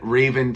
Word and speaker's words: Raven: tells me tells me So Raven Ray a the long a Reven do not say van or vein so it's not Raven It's Raven and Raven some people when they